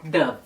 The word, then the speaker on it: Dove: Que no Brasil a gente fala Dove ou Dove, mas em países que falam espanhol é um pouco mais próximo, a pronúncia é um pouco mais próxima do inglês, da maneira de se pronunciar em inglês. Não é exata, mas é mais próxima. Eles falam Dove.